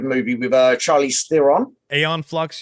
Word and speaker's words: Aeon Flux: with uh charlie's theron aeon flux you mean i sorry i own i'll pronounce the xeon flux there's no x in there it's a-e-o-n yeah yeah but eons